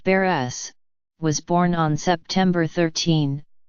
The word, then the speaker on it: Barres: Barth pronounced Burris was born on September 13 1954 in West